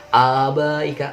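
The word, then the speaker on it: آبائك: Nah, abaika. Nah, ketika saya membaca lafaz abaika, untuk menghafal lafaz ini kata kuncinya itu baik. Abaik, baik. Ini kan ada ba, ik, baik. Nah, tapi bacanya panjang dulu.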